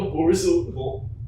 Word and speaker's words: Borzoi: sideways How do you through a pronounce it? doorway. Borzoi? A Borzoi.